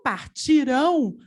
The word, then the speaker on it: partirão: tônica é o ti o partirão a sílaba tônica é o rão nós temos aí uma